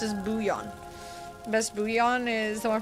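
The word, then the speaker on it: bouillon: Okay, I'm not supposed to pronounce the L's. Buon. Boule. Bullion. Bouan. I've never heard it say pronounced as booion.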